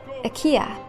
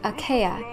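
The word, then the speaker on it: Achaea: name for you and i'm wondering if it can be pronounced in different ways akia or at least it was specifically indicated to be pronounced that way it is spelled a-c-h-a-e-a but i also think it could easily be pronounced aka which might be okay because it's so similar to names like archaea or ones that have an aea part to it whichever you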